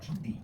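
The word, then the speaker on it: 上帝: It's pronounced Shangdi and basically means highest god.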